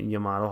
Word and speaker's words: Yamato: It's got a Yamato hull, not a Yami hull, but a Yamato hull. So I'm saying it right.